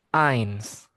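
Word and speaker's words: eins: Angka satu itu ditulis dengan E i N S. Ains angka du angka dua ke mana nih?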